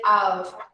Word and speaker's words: of: We say this letter here, the final letter, with a sound of V, okay? Not a sound of F. So we say of.